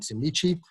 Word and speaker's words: Semliki: So for some reason, they pronounce the K's as a CH, so that's Kibale and Semliki.